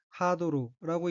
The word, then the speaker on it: ハードル: 우선 빨간색 줄친 부분을 보면 첫째 줄에 카타카나로 된 어휘는 하도루라고 읽으며 허들, 장애물 경주용 목재틀 이란 뜻입니다.